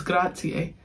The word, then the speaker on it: grazie: Nina gonna be like, you're not pronouncing it right. It's grazie.